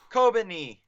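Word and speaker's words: Kobeni: Kobani, how do you pronounce her name? Kobani.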